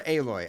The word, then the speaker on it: Aloy: of people who Aloy, is it pronounced Alloy or Aloy? I think it's Alloy, right?